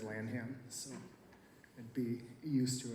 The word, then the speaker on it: Lanham: No, it's Lanham. Perfect. But when I was in high school, everyone always said Lanham, so I'd be used to it.